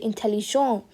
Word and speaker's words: intelligent: tell you something that if a word in french ends in an a sorry in a t s or d do not pronounce the last letter for example over here if i don't put an e if it's this i'm not i'm not gonna pronounce the t over here i'm just gonna say intelligent okay but if i